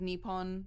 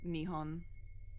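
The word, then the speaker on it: 日本: Like one of the kanji, it has a W, but it's not pronounced wa, it's pronounced ha. So yeah, it looks like Nippon, but it's like Nihon. Okay. But you can say it either way and not be entirely wrong.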